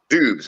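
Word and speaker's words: Doubs: Dubes, okay. He I'm has all been, pronouncing it wrong.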